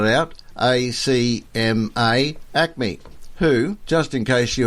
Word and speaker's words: ACMA: Let me spell it out. ACMA Acme, who, just in case you hadn't yet heard,